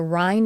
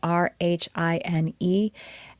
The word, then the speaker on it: Rhine: And if you've heard of the field, I'm sure, of parapsychology, there is a research center called the Rhine Research Center. It's spelled r h i n e, and it's the Rhine Research Center of Noetic Sciences, and they explore telepathy and clairvoyance and psychokinesis.